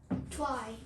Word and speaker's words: trie: prefix tree which is called how do you pronounce this by the way try try try okay try okay prefix tree okay